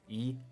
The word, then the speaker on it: Yi: Korean and the way the proper way for you to actually say his name is e is uh and why